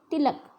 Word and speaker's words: तिलक: हिंदी पंजाबी में बोला तिलक लगा लो, ल आधा लिखा है, लेकिन हिंदी भाषा में इसका उच्चारण करते समय हम लिखेंगे तिलक, ल को पूरा उच्चारण किया जाएगा।